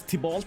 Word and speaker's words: Tibalt: Is Tibalt the correct pronunciation?